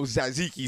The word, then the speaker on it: tzatziki: You haven't had no tzatziki sauce in a And minute.